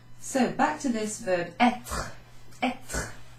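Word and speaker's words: être: So back to this verb etre. Etre. I'm over-enunciating that R-E, but etre.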